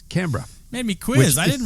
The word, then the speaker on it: Canberra: Not Canberra. It's Canberra.